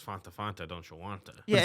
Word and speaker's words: Fanta: They say that they say that it actually almost rhymes with want, but it's more like a fawn.